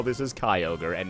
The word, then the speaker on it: Kyogre: But I can totally see how this is Kyogre and not Kyogre.